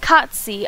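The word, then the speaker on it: Cait Sith: The Cat Sith, pronounced Katsi.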